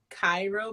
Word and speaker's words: Cairo: is a town called cairo but they say cairo but it's spelled like cairo egypt so they say